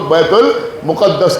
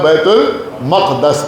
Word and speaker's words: بیت المقدس: بیت المقدس کو، جس کو لوگ بیت المقدس کہتے ہیں۔ صحیح تلفظ جو ہے وہ ہے بیت المقدس۔ ایک صلوات پڑھے بر